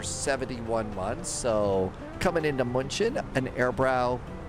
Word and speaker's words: München: So, we flew from Stockholm down to Hanover and we're doing continuing service down to Munchin. Munchin. I think I do I pronounce the U too much. It's more like mention.